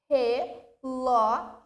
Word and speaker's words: relógio: Relógio. Proparoxítona. Relógio. O Ló, sílaba tônica.